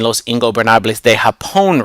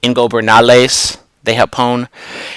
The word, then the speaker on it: Los Ingobernables de Japón: He apparently still is not pronouncing Los Ingobernables de Japón right. He like takes out a B, so it's like Ingobernales de Japón.